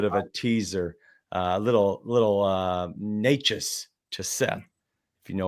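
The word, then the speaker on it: Nečas: Natchez, like the nature boy, Ric Flair, Martin Natchez.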